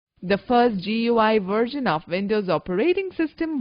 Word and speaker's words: GUI: edubuntu windows is a graphical user interface gui pronounced as gui between a computer and its user it has